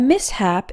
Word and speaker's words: mishap: number four mishap a mishap is an unfortunate accident although this word has SH we don't pronounce it like Shh we pronounce the s and the H in separate syllables sounds exactly like the